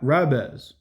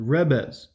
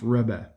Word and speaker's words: rabbi: The rab- rabbiz, the rabbiz. The rabbis. The rabbiz. The It's actually pronounced rebbe. Not rabbi.